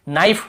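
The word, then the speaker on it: knife: नाइफ, यहाँ पर भी के को नहीं पढ़ेंगे।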